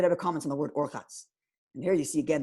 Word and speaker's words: Urchatz: And if you didn't have the Vav, it would be Rechatz. It would be an awkward word to say. It wouldn't flow in the rhyme. So we have to put an extra syllable, and therefore they added the Vav to give it Urchatz.